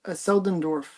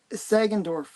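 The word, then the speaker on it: Sagendorf: And it's a Bob Selundorf cover story and art. Did I say his name correctly? I can't see it. I think it was Sandorf. Rob Sagenorf. There you go. That's it.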